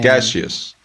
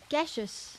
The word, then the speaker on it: gaseous: it's spelled and looks and then gaseous gaseous yep it's a not not s gashes right M gases mhm